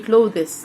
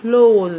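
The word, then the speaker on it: clothes: اتش ننطقها يبقى كلو ماحدش يقوللي كلوس لا غلط مش بنطق دي كلو الملابس على بعضها كده اسمها كلوذ كلوذ كلوذ كلوذ كيلوميتر طبعا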